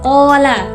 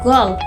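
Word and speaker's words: قال: Contoh lainnya yaitu kata Qola, dia berkata. Dalam Fusha bisa berubah menjadi Gol dalam Amiyah.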